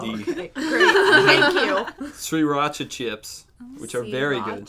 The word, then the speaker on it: Sriracha: sriracha chips, which are very good.